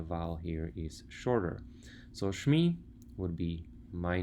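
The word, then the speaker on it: שמי: Once we put it together, it would sound something like this, Shmi. Now you may notice that Shem has a long E vowel, and suddenly we shorten the vowel, and the reason for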